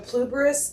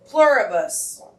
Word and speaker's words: Pluribus: Pluberus.